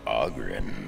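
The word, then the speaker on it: Oghren: The name's Ohhh-gren, by the way. But the ladies pronounce it Ohhh-gren.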